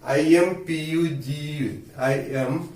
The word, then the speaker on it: impugn: I-M-P-U-G-N. Impugn. So this word is pronounced as impugn.